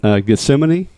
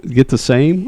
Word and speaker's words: Gethsemane: called Logill Distillery in Gethsemane, Kentucky. No, I like that pronunciation better than what I tried to call it. You were like get the get the same or something. Get the main.